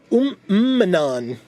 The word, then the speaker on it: Manan: next rare mythic is Manan. That's the one. I had looked at this earlier and I was like, how do I pronounce it? But yeah, it's manan the right hand because you know that makes sense.